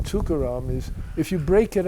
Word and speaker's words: Tukaram: And the thing about the name Tukaram is, if you break it up, which nobody does, but it's 3 syllables. Tu-ka-ram.